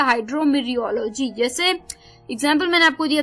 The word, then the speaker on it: hydrometeorology: हाइड्रोमीरियोलॉजी HYDROMETEOROLOGY, टी इसमें silent है, हाइड्रोमीरियोलॉजी।